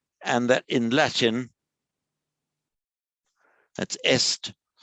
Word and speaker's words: est: And that in Latin, that's est. Same spelling in French, but pronounced e.